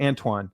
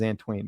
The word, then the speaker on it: Antoine: inventory versus whitaker and it's pronounced antoine okay gotcha antoine i don't know why i said ant it looks like it says antween but antoine okay i'll keep that